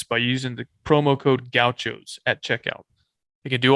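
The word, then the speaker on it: Gauchos: you spell gaos because a lot of people spell it wrong and they say wrong it's G Au C hos yeah goutos not grouos conference headquarters keep it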